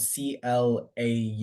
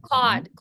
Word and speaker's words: Claude: So Cloud.ai, it's spelled C-L-A-U-D-E. Oh, Claude.